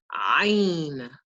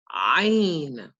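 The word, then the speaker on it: ع: This letter is pronounced Ain. Ain. With this letter, just imagine you go into a doctor's office and the doctor says, open your mouth and stick out your tongue and say, ah, ah.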